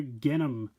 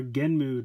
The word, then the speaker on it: Genm: Today we are taking a look at the Rider Kicks figure for Kamen Rider Genm, or Genmu depending on how you like to pronounce it.